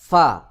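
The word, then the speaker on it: ف: যেমন গাইন গাইন তারপরে ফা গোল মাথার উপর এক নুক্তা গোল মাথার উপর এক নুক্তা এটার নাম ফা ফা ফা উচ্চারণ হবে নিচের ঠোঁটের পেট সামনের উপরের দুই দাঁতের আগার সঙ্গে লাগাইয়া অনেকে দুই ঠোঁট দিয়ে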